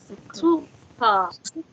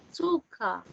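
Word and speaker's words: Zucker: Suka. Agak A. Suka. Z dibacanya C tadi ya.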